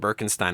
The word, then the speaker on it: Birkenstein: review, and they pronounce Birkenstein, and I would say Birkenstein because it looks like a German name to me, and you always go with the second vowel in German.